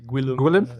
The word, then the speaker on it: Guillaume: Yeah, Guillaume. Yeah. Good stuff. I don't get offended anymore. It doesn't. The way you spell it out isn't the way it's pronounced at all, though, is it?